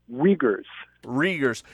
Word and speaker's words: Uyghurs: China is holding 3 million, and pronunciation question here, is it Uyghurs? How do I say that? Uyghurs.